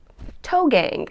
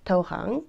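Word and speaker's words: toegang: to the door yeah it's toe gang it's like a little it not pronounced that way it's pronounced toe hyung told told I'm trying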